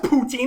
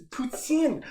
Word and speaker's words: poutine: It's not pronounced poutine. It's French, so of course it's poutine. But nobody actually fucking says that unless you're from Quebec.